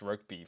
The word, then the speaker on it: Rokeby: They're they're fine, but it's pronounced Rokeby for anyone listening.